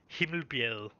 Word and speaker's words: Himmelbjerg: uh without translation it would be pronounced Himmelbjerg, and that would be uh, not necessarily the sky.